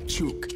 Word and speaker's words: chuk: Las sílabas chu y ka forman la palabra chuk, que significa capturar.